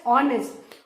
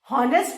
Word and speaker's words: honest: How will we pronounce HOUR एज आर, एंड how will we pronounce this word HONEST एज ऑनेस्ट। हॉनेस्ट पढ़ोगे तो सोचेंगे कि अरे इसको तो इंग्लिश आती ही नहीं है।